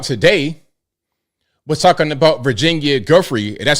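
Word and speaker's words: Giuffre: The email they put out today was talking about Virginia Guy, that's how you say her name.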